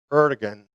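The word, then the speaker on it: Erdoğan: Now, this brings us to a consideration of President Erdogan in Turkey. Some say Erdogan. That's another pronunciation. I use just the more American kind of pronunciation, Erdogan.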